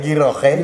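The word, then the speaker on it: غيرة: Jadi bukan gira ya, giroh ya.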